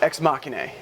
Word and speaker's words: Ex Machinae: The band name is pronounced Ex Machinae. Ex Machinae. And I'm probably gonna get a little flack for that because I've been pronouncing it really both ways for a while, and I've been pronouncing